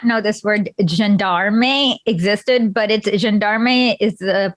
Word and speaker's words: gendarme: It should be gendarme. It's gendarme.